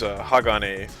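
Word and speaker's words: 鋼: is or steel the epic quote unquote Japanese pronunciation of the the character is Hagane you might be more familiar with that than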